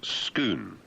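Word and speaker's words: Scone: Some Scots have noted that the lump of red gray sandstone is very much like others found near Skoon, written S C O N E, the ancient capital of the PS pics, 55 kilometers north of Edinburg.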